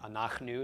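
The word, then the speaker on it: אנחנו: But anachnu is the pronunciation regardless.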